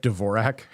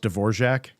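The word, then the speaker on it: Dvořák: I think it was Radatic D'vorak, whose name is actually pronounced D'vorjac, but he got so sick of ever even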